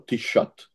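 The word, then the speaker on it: Taoiseach: lá se chama o t shot não não me digam não sei como é que aqu se escreve mas escreve-se completamente diferente do modo Como se pronuncia o t shot pediu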